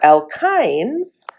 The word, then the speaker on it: alkynes: And and then we have alkynes. And again, this is kind of pronounced i n e even though it's spelled with a y.